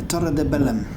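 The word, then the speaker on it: Torre de Belém: The Torre de Bellum. That's how you pronounce it in Portuguese.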